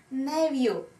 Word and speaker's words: nephew: Nephew. Nephew. В принципе, можно еще произносить как nephew. Nephew я, наверное, не слышала в своей жизни. Больше как nephew, но знаю, что оба варианта правильные.